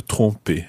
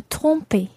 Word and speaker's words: tromper: Now, Earlier I said that you need to make sure that you're pronouncing tromper well. Tromper. And the reason for that is because there's another verb in French, and that's tremper.